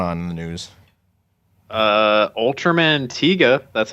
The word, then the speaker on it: Ultraman Tiga: else what's going on in the news uh Ultraman Tiga that's how you say that right that is how you say it Ultraman Tiga uh alongside various other children shows and cartoons